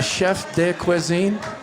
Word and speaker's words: chef de cuisine: Is the chef de cuisine?